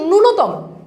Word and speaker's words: ন্যূনতম: আমরা কিন্তু বলছি, আমরা অনেক সময় বলি ন্যূনতম, ন্যূনতম না, এটার উচ্চারণটা হচ্ছে ন্যূনতম, এটা উচ্চারণটা কি ন্যূনতম।